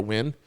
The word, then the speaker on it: Nugent: Like when they say, because my doctor is Dr. Win, but like it's spelt Nugent. Like the way Nugent is Win.